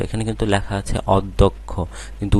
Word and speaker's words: অধ্যক্ষ: এটা বিগত বছরে আসছিল তো দেখো এখানে প্রথমে অ আছে এরপরে জ ফল আছে সুতরাং অ এর উচ্চারণ আর অ থাকবে না ও এর মত হয়ে যাবে অধ্যক্ষ হ্যাঁ তাহলে এখানে অ এর উচ্চারণ ও হয়ে গেল অধ্যক্ষ এরপরে দেখো গ এর